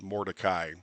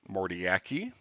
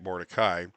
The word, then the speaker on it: Mordecai: So my name, so the way mine is pronounced is Mordecai, but I've heard it called Mordiaki, Mordiak, because they can't see the Y apparently. Some people get it right, Mordecai.